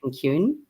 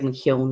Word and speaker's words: McKeown: And I read Essentialism by Greg McKeown, or Greg McKeown, as we say in Ireland, but I don't know how he pronounces his name here, but it would be McKeown in Ireland.